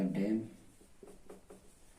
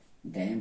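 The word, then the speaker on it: damn: ये आपका कॉलम, ये आपका डैम, डैम हो गया।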